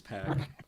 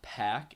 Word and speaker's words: Pac: really knows this, but everybody's been pronouncing it wrong for the longest time. It's not Pack, it's Pac. It's Pac. That's how it's pronounced, but All right, Pokemon.